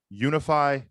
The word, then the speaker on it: Unifi: that today's episode is brought to you by unify commerce say with me now unify commerce yes guys that is spelled u n i f i commerce dot